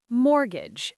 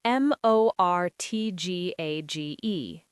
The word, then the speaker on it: mortgage: Mortgage. M O R T G A G E. Mortgage. That T is silent.